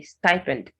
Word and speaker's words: stipend: not ski it's square stipend the i takes the i sound instead of e so you say stipend suede suede swallow swallow